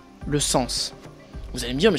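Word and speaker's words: 線: Une ligne, en japonais, ça se lit sen. Par exemple, dans Shinkansen, ou Yamanote-sen, la ligne Yamanote, vous voyez que c'est la même prononciation.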